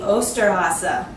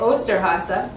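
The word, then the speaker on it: Osterhase: except in Germany he is called the austere Haase this is kind of a big tricky word in German but that's how you say it austere Haase that's the name of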